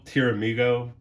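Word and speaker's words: Pteramigo: into P tier Amigo so it's still tiramigo but with a silent p uh or the terror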